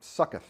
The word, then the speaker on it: Sukkot: good chance they're celebrating Sukkot. Sukkoth, is it sometimes pronounced, S-U-C-C-O-T-H. It's the Jewish holiday, the Festival of Booths.